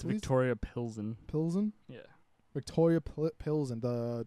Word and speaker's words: Pilsen: How the hell do you pronounce that? Pleasant? It's Please? Victoria Pilsen.